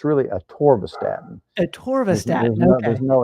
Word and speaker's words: atorvastatin: Ken, I'm 62 and doctor wants me on lisinopril and atorvastatin. What natural are How did you alternatives?